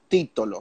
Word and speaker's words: Titolo: wine I have that peep-toe low do you pronounce it Tito low or Tito low T : Tito low so we have the title of 2016 oh